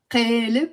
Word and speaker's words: قالب: زبدة is the butter, so قالب جبنة, and it's written with a قاف, قالب, قالب in Fusha, but in Lebanese we pronounce it قالب, okay, a block of cheese.